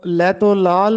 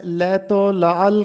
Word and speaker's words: لیت و لعل: لیت و لعل کرنا۔ بہت سے طلبہ اس لفظ کو لیت و لعل پڑھتے ہیں، جبکہ درست تلفظ ہے لیت و لعل کرنا۔ لیت و لعل کرنا